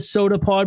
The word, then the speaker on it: Sota Pod: It is pronounced The Soda Pod, but it is spelt The Sota Pod.